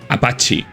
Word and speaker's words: Appice: y dijo que realmente, como debía pronunciarse, era así, Vinnie Appice o Vinnie Appice. Quizás porque la versión correcta en italiano, ya que el apellido era de origen italiano, era pronunciarlo Vinnie Apache. Pero la versión en inglés o la anglizada que consideraba Vinnie era Vinnie Appice.